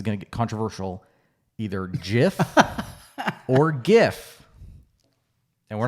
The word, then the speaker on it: GIF: I say Jiff. Yeah. I saw it on Jeopardy. The guy in a clue, he says it rhymes with Jiff, and I saw that early, and that stuck with me.